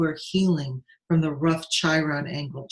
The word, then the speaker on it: Chiron: healing from the rough chyron angle Chiron is the wounded healer sometimes pronounced Kyra and that wounded healer